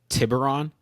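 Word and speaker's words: Tiburón: How do you pronounce that again, Nate? Tibberon. Tibberon.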